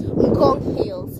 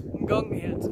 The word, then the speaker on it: Ngong Hills: Up the, how do you pronounce these mountains? Ngong Hills. Ngong Hills.